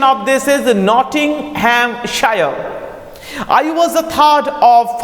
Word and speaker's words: Nottinghamshire: My father had a small estate in Nottinghamshire. The pronunciation of this is Nottinghamshire.